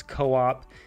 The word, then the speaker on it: Co-op: You can see here it is Co-op, and I will always pronounce it as Co-op because, at least in the United States, there are grocery stores that are called co-ops, or like a co-op. It's short for cooperative.